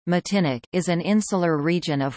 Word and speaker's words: Martinique: Martinique, French pronunciation, Matinic, is an insular region of France located in